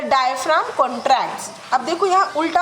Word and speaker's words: diaphragm: उसे हम कहते हैं डायफ्राम. किसकी होती है परत? मसल्स की होती है, ठीक है. डायफ्राम, क्या बोलेंगे हम इसको? डायफ्राम. अब देखो, PHRAGM, जी साइलेंट रहेगा इसमें, जी का प्रोनाउंसिएशन नहीं है. डायफ्राम, ठीक है, डायफ्राम, ठीक है.